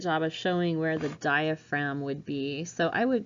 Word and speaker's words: diaphragm: and lungs called the diaphragm we don't pronounce the G that separates basically what's